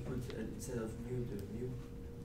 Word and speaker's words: mu: What happens if you put instead of mu, the mu, like the I don't know how to pronounce it.